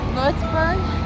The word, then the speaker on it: Würzburg: Würzburg.